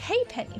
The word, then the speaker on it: halfpenny: I think it is a halfpenny, but I remember it being pronounced haypenny for whatever reason.